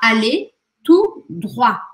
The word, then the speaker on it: allez tout droit: Aqui você vai falar allez tout droit. E este T, tanto do tout quanto do droit, não é pronunciado.